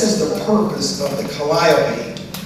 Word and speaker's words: calliope: This was the purpose of the calliope. I pronounced it calliope all my life. In writing the book, some of the folks in the circus business say it was calliope.